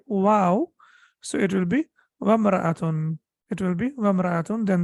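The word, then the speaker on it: امرأة: So then the hamza will not be pronounced. So three things we need to remember. If we read it by itself, it will be imra'atun.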